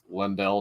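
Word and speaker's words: Leyndell: um I'm in I it's pronounced lendell now the capital city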